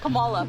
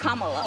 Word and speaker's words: Kamala: Earlier you said Kamala. The way she pronounces her name is Kamala. You don't work with her either.